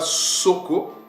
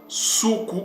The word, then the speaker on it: Suku: Ils ne les prononçaient pas Soko, mais ces mots-là se prononcent Soukou ou c'est prononcé Soukou.